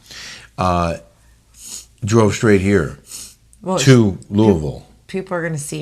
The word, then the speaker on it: Louisville: And in case you're wondering, yes, that is how you say it. It's not Louisville. If you're a local or if you want to sound like one, it's Louisville.